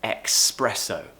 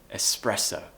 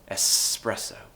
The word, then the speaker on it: espresso: a lot in coffee expresso we don't need X in here this consonant cluster we do not need remove that sound it should be espresso espresso okay lots of natives